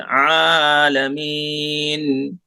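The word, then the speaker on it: العالمين: आइन आलमीन। आइन निकालना सही से, आलमीन।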